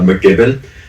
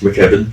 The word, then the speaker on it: McKibben: I've had McGibbon. It's McKibben. And then I had in the last one, what was it? Gibbon. Like um like a big cuz it was a huge pause.